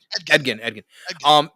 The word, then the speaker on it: Edgin: I did love Chris Pine's character, Eddington. I always say it wrong. Edgin. Because it's the rogue in me, man.